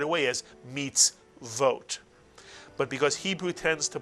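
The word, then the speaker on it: מצוות: This is a vav with a cholam chaser over it, making the syllable vote. Not oat, but vote. And therefore the word is pronounced meets vote, mitsuyan.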